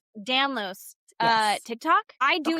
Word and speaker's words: Danlos: So it's so interesting that you say that only because somehow I have ended up on Eller's Dan down. I'm saying it wrong. Danlo Danlos.